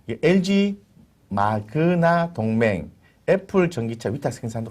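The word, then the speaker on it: Magna: 그래서 이 마그마 인터내셔널 회사의 주가를 제가 해외 주식으로 봤어요. 이 3개월치를 봤는데요. 네, 마그나래 마그나 죄송합니다.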